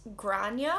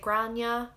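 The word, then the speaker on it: Gráinne: one name for g it's grania or grania i say grana but that's because where i'm from our accent it's a lot more like our a's are a lot more like ah instead of all it comes from the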